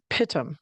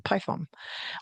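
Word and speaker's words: pitom: is they have um I thought I always thought it was pitum because it's um an it's pi tu m. However, when I went to look it up to find out how to say it, it's actually spelled python but with an n. Pythom.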